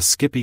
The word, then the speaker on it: SCPI: we will introduce the Skippy commands and explore a few examples to understand how they are used in practice sepi pronounced Skippy stands for standard commands